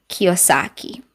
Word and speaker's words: Kiyosaki: That's by Robert, and his last name is just too difficult to pronounce. I tried again. It's Robert Kiyosaki.